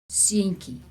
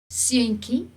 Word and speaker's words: Seentjie: Seentjie, we pronounce ki, although TJ normally is ch, but we pronounce it when it's in a diminutive form, we pronounce it ki.